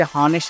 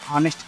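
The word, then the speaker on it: honest: एन ऑनेस्ट मैन, इसी प्रकार ऑनेस्ट मैन में हम यक्ष से हॉनेस्ट नहीं पढ़ते, ऑनेस्ट पढ़ते हैं। वो से उच्चारण होने के कारण, अ से उच्चारण होने के कारण इसे इसमें एन का प्रयोग किया गया है।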